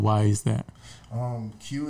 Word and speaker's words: Queue: Q is the way you spell Q like that. It's that Q-U-E-U-E.